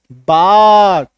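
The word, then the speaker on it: bark: है यहां पे देखो ये जो आर है ये हल्का साइलेंट भी होता है सेमी साइलेंट इसको हम लोग बोलते हैं पूरी तरीके से साइलेंट नहीं होगा आ का हल्का सा एक झलक सा आएगा ठीक है बट चूंकि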